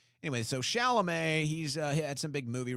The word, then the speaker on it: Chalamet: Chalamet. Timothy Chalamet.